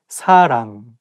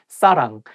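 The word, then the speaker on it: 사랑: the same thing like you have to say sarang with the softer s not sarang and make sure that you pronounce un sound um correctly sarang not saran saram or something else so you can say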